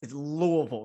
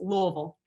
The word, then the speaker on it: Louisville: So it's Louisville, right? You kind of have to like swallow the U-L. Yeah, I was told you have to say it like you're saying it with something in your mouth.